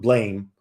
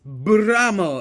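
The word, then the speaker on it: Blame!: Of course, you have to include Blam, the manga that everyone references. But more pronounce it right.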